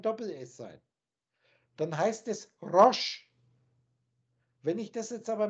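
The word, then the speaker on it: ראש: In dem modernen Ivri, in dem modernen Hebräisch, wird das Rosh ausgesprochen.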